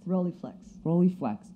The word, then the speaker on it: Rolleiflex: Vivian's camera is a, I'm going to mispronounce this, a Rolei viewfinder, is that correct? Rolleiflex.